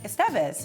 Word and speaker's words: Estevez: you're here okay so we had a debate the other week me Leo about pronunciation when it comes to your last name now Eric who is Latino and he agreed with me cuz I was like it's Emilio Estevez that's right that's right yes